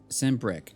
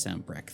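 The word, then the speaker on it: Sanbreque: across valastia North reach uh send brick okay I think that one's pronounced Sam brecht then moved his Capital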